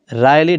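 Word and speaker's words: wryly: आपने पढ़ा होगा dismantle Rilee राइली W silent है मुड़ा हुआ ट्विस्टेड इसका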